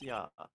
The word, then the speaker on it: ja: Ja. It's pronounced yeah. Ja.